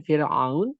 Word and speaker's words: فرعون: Contoh tadi dikembalikan kepada kalimat Fir'aun. Fa adalah bukan huruf isti'la. Fa bukan huruf isti'la. Maka dibacanya dengan Fir'aun, maka ra-nya dalam keadaan tipis.